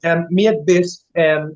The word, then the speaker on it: Miegħek Biss: Miegħek Biss, which means what? You told me before, but I forgot already. So, Miegħek Biss, first of all, I can explain.